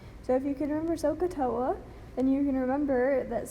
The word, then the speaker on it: SOHCAHTOA: this, but you can remember SOHKAHTOA, and they pronounce this SOHCAHTOA. So if you can remember SOHCAHTOA, then you can remember that sine is equal